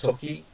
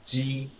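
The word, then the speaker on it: 時: Right, now this one is time or hour, okay, pronounced toki, or ji, so, okay, that's that one.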